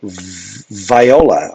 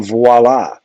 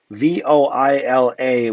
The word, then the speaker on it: voila: circle a bunch, and viola. I think you mean voila. Um, ink comes back to the tip. Give that a look, Dallin. Voila with an accent on the A for voila.